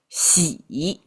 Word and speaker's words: 洗: 先 The whole thing pronounced 洗 It actually came from wash your feet.